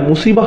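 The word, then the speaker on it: مصيبة: এরপর আবার শব্দটির শেষে রয়েছে তা মারবুতা, যে জন্য আমরা মুসিবাহ উচ্চারণ করি, মুসিব না কিন্তু।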